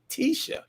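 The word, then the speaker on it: Titia: Well, I guess that's Tisha. But it's spelled T-I-T-I-A.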